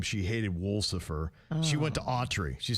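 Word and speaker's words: Wolsefer: It was Wool Suffer." Wool Suffer? Wool Suffer. W O L S E F E R. She phonetically put it, it would be Wool Suffer.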